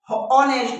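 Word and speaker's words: honest: ही इज एन ऑनेस्ट बॉय।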